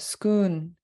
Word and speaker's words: skoon: So we really wanted to drive this one home, is that skoon is a Tlinkitized word for school. So it's just a Tlingit pronunciation for the English word school.